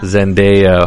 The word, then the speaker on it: Zendaya: think that having uh what's her name zandaya or zendaya i always forget how to pronounce her name how is it zendaya zendaya how do you think